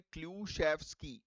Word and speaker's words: Klyuchevskoy: इसका प्रोनाउंसिएशन है clue chef ski. Clue chef ski स्कय नहीं है स्की है।